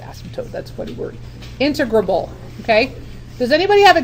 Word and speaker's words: integrable: here's the new word I n te gr a BL e okay what do you think is the pronunciation of that word okay it is not integratable it is integrable it sounds kind of funny it's like